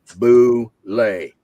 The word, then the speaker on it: Bulette: The Bullet. Oh, je parle français, moi. Fais attention. I published the correct pronunciation with the monster in July of 1976. Okay. Dragon number 1. Boulet. Why? Because I said so.